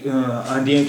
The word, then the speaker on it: indien: देखिए je suis और आंधियाँ अगर अलग सिर्फ आंधियाँ हैं तो इसे हम प्रोनाउंस करते हैं आंधियाँ, लेकिन इस सेंटेंस में हम यहाँ प्रोनाउंस कर रहे हैं जांदियाँ, आंधियाँ के बजाय जांदियाँ कर रहे हैं।